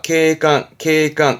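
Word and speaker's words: 警官: 케강. 이거를 경찰관, 3글자로 쓰기도 하죠.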